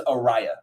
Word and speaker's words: Ariah: my bad he uh prime always pronounces it incorrectly he says arya i have another niche named arya this one is arya pronounced like mariah um and you can